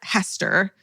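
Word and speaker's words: Heaster: Way back in October of 1896, my great great great {question mark} aunt Zona Hester, pronounced like Easter with an H. Mhm. Hester.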